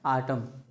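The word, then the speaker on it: autumn: क्या बोलते हैं साइलेंट जैसे आटम क्या लिखा है आटम एम के बाद न है तो इसे आटम एन साइलेंट है जिसे पतझड़ बोलते हैं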